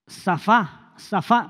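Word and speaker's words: צפה: Y esta palabra tiene su raíz en una palabra hebrea que es zafá, pero que comienza con T, zafá, acento en la última A, que significa observar, aguardar, ser una atalaya, estar vigilante.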